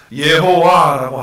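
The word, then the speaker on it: יהוה: 그래서 이 여호와는 예호와라고 하는 발음을 하고 있고요, 히브리어로. 그리고 하나님은 엘로힘, 그래서 예호와 엘로힘이라고 이렇게 말하는 거예요.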